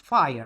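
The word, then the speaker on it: FHIR: That word that you see here FH IR the FHI we pronounce fire like uh the fire.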